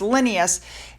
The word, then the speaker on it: Linnaeus: During their tercentenary celebration in 2007, which coincided with the birth of Carl, I believe it's pronounced Linnaeus, HRH Princess Anne became an honorary member of